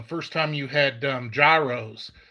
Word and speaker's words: gyros: time you had um gyros they're pronounced euros joe and yes i